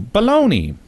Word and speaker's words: bologna: that it turned into baloney so the common thought is that the anglicized version of all things italian like italia cecilia lombardia ended up with a y sound at the end and a bologna was